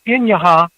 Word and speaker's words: Inaja: It's called the Inyaha UFO photo. That's spelled Inaja.